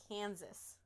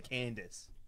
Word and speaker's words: Kansas: you mispronounced kansas candice there's no d in kansas oh okay kansas is that better yes kansas i'm not pronouncing it so where he's just like candace like the name candace and i'm like that